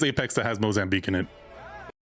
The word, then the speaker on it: Mozambique: Now, granted, I'm not saying it with an accent. I'm saying Americanized. I've never heard an African say Mosamb beek before, but I've heard it pronounced enough in media to know it's a pretty